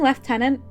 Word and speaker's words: lieutenant: Am I supposed to be saying lieutenant? Brits in chat, please help me. Quirrell says the British pronunciation always seemed off to me. Well, it's because it looks like it says Lou.